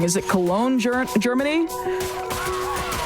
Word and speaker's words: Cologne: Is it Cologne, Germany? It's spelled like Cologne.